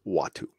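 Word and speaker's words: Uatu: Yeah, it's U-A-T-U. Okay. But it's pronounced Watu.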